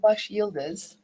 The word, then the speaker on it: Baş Yıldız: I'm just learning to say her last name, Basyildiz? Is that even remotely close? How do you say it? Well, originally Baş Yıldız.